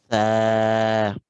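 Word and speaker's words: ث: it right at home, when we pronounce this letter, it's in the same way as when we say thank you in English. That th sound that you have in thank you, that's exactly the same sound that we've used to make this th.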